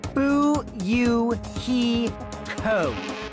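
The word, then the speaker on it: Fuyuhiko: name is kuzey real my first name is pronounced ooh you he code are you hi I'm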